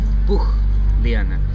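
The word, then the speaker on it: Pucllana: The right pronunciation, for this word is Pugliana.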